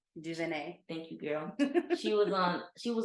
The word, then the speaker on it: DuVernay: and having discussions um I always say her name incorrectly incorrectly Ava Duvernay she's like Duvernay thank you girl she